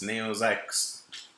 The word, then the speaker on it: Neo XYX: This game, Neo XYX, it's Neo Zykusu.